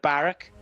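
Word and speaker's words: Barq: And Barak, BRQ, that's how this horse's name is spelt, but I've been reliably informed Barak is fine.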